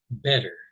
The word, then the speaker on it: better: an American, is that usually in most American accents, the T's in the middle of a word sound much more like D's.